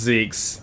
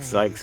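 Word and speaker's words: Zieks: It's pronounced Zeke's. Whoops. Ah, we've both been saying it the wrong way for the longest time. All of them bound by invisible. I like Zikes better, though.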